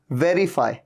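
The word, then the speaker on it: verify: अब देखिए वेरीफाई, ऊपर वाले दांत नीचे वाले लिप को टच कर रहे हैं, वेरीफाई, वेरिफिकेशन।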